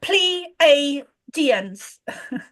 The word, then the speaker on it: Pleiadians: the, forgive me if I say it wrong, Pleiadians? Is that what the word is? Right. Did I say it right? Yeah, Pleiadians.